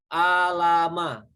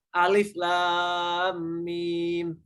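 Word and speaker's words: الم: Atau dalam kasus surat Al-Baqarah dia akan membacanya alama, gitu. Tapi ternyata membacanya tidak begitu. Alif lam mim.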